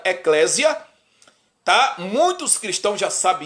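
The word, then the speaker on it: ἐκκλησία: que fundou a igreja a palavra igreja vem do grego estudei o grego hebraico aramaico no grego se pronuncia Eclésia tá muitos cristãos já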